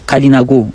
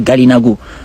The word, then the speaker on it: Kalinago: De même, pour le terme Kalinago, parce que parfois il est prononcé Galinago.